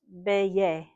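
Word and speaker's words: Beje: E G, but because it's in Dutch is pronounced Beay.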